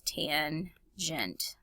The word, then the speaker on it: tangent: tangent and of course it just looks like the word tan but it's tangent okay now these formulas